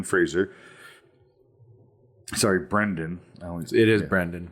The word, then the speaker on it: Brendan: gain the affection of a beautiful coworker Elliot Brandon Fraser sorry Brendan I always it is Brendon Brendan Fraser I'm